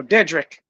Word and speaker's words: Dedrick: name my my name right one day oh dedric yes sir yeah I'm G be honest with